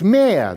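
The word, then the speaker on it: mehr: more than they themselves consume in german it's mere the german word is m-e-h-r which means more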